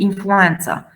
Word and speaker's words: influenza: Now, these two words are of Arabic origin. That's why we have to pronounce as ц. Zincum and influenza.